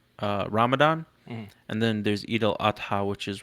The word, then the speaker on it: Eid al-Adha: Um, yeah, I had my holiday last week, and How do you pronounce that, by the way? Eid al Adha, Okay.